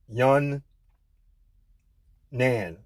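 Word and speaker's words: Yunnan: called young nee or young Yun nan is spelled y-you in in a in so quenching so quenching of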